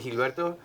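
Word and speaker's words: Gilberto: last name Gilbert my name is actually hilberto but the americos can't pronounce it so I go by Gilbert so it's Gilbert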